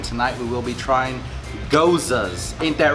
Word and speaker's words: Gose: Let's go ahead and start off with the pronunciation, which would be GOSE. Rhymes GOSE. with Rosa. Just put a G in there.